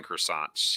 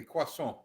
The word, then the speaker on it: croissant: tried making croissants yet now you have to say it correctly quasar croissant no no no r get rid of that r in there croissant ah not no t no t in there either croissant i'm seeing a t